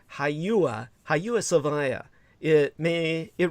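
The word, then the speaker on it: Hagia: h a g i a uh but it's pronounced haua hyua saaya it may it remains a potent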